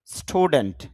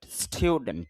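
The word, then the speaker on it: student: স্টুডেন্ট, যদি আমরা স্টুডেন্ট বলি তবে শুদ্ধ হবে স্টুডেন্ট, স্টুডেন্ট একটু স্টিউ সাউন্ড হবে, স্টুডেন্ট, এস টি ইউ, স্টুডেন্ট।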